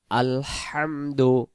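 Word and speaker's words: الحمد: উচ্চারণটা করব বিসমিল্লাহির রহমানির রহিম, রাহিম হবে না। প্রথম শব্দ আলহামদু, আলহামদু হামজা লাম জবর আল, হামিম জবর হাম, দাল পেশ দু উচ্চারণ আলহামদু, আলহামদু।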